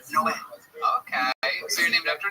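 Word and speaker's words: Noé: Like in the Bible, the Spanish translation, it's Noe is Noah, but it's pronounced Noe.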